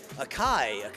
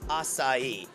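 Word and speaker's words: açaí: know what is outside or how do you pronounce everybody comes in and they're like a kayak I'm like no no it's hasta e it's a great little super fruit berry from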